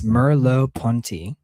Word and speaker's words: Merleau-Ponty: I think it's Merleau-Ponty.